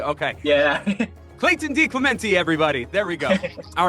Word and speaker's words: DeClemente: I pronounce it DeClemente. Clemente. Ah, you are one of those that goes E. Okay. Yeah. Clayton DeClemente, everybody.